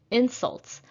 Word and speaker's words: insult: from the opposing team insults is a noun so i will stress the first syllable and please look at